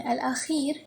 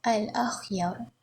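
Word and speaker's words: الأخيار: Ini cara baca dia bukan al-akhir tetapi al-akhyar.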